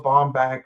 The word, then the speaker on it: Baumbach: The thing about Noah Baumbach, right? I pronounced his last name right.